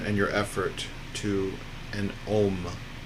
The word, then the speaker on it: Om: For sound and vibration today, I'd like you just to bring your attention and your effort to an Om. Om. O-H-M. Om. Or Om. A-U-H-M. Om.